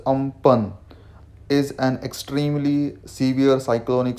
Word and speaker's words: Amphan: things over here um fun which is pronounced as um pun is an extremely severe